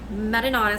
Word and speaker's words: marinara: So I'm going to show you guys how to make authentic Sicilian marinara sauce. Marinara. If you guys are, I know not everybody pronounces it the Italian way.